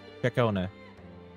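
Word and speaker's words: Ciaccona: I still don't understand why people have trouble pronouncing her name when it's literally right there. Takona. The start of the 2.2 story. She just tells you how to pronounce her name. She says her name to you.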